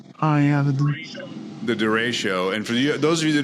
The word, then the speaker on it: derecho: How do you pronounce that? I never say it right. Yeah, the derecho.